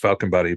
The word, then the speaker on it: Falkenberg: Here where I live, the place I live in Sweden is called Falkenberg, and pronounced Falkenbody, but we're by the beach.